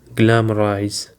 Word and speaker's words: glamorize: Now for the fifth word we have the word glamorize. Glamorize. It is actually have three syllables and the stress is on the first syllable.